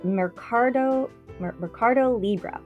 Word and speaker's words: Mercado Libre: It's Mercado Libre. I'll spell that for you.